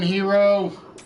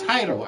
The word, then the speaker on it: Hiro: How we doing, Hero? Hero? Why can I never say it right? It's Hiro.